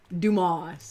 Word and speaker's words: Dumas: Well, you don't pronounce his name the other way. It's French.